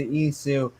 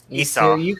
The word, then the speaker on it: Esau: And Rebekah spak onto his meat, onto Jacob, her son, saying, Behold, I heard thy father speak unto Esau, thy brother, saying, Bring me venison.